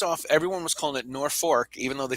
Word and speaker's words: Norfolk: uh the post off everyone was calling it nor fork even though they spelled it nor folk and uh they spell it norfolk and they pronounce it norfolk and